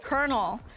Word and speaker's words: colonel: And then one time when I was dying of laughter because uh my coworker didn't know that the word colonel was pronounced colonel and he was like